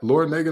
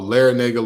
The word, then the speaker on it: Larrañaga: Is that Laura Nega not Miami's head coach? Like Jim Larrañaga? Oh, Larrañaga, Laura Nega, the nerve of me for pronouncing the A incorrectly.